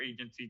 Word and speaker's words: AIgency: I'm introducing you today to Agency Valet. Uh the I is silent.